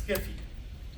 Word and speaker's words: SCFE: You can pronounce this as Skiffy. Skiffy. Yes, it's Skiffy.